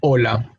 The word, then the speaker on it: hola: Same thing in the word hogar, alcohol, and hola. No, we spell it out. We spell the letter H in the word, of course, but we do not pronounce it because it is a silent letter in the language.